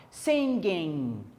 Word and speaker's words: singing: Esse G na hora de pronunciar é mudo, então a gente fala singing, singing, sing, cantar, com ing, singing, cantando.